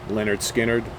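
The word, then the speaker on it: Lynyrd Skynyrd: al cooper of course it can only be pronounced leonard skinnered from leonard skinner i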